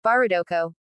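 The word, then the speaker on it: バーダック: The eldest angel booms from his tall tower, Barudoko. Japanese pronunciation of Bardock's name.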